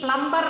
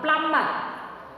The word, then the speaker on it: plumber: Here B is silent. We should not pronounce B. Plumber wrong. Plumber.